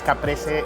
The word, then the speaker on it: caprese: It's Capri Salad. I'm not really sure how to pronounce it. Everything on the menu is in Spanish. It's caprese, ensalada caprese. Let's go ahead and check this out.